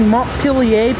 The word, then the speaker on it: Montpelier: Also, another thing I wanted to point out there, the reason why I keep saying Montilier Berlin because that's how you properly pronounce the capital.